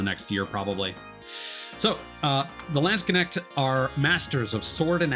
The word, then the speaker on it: Landsknecht: So the Landsknecht, or Landsknecht, I think it's actually supposed to be pronounced. It's just at the end. It's not a sh.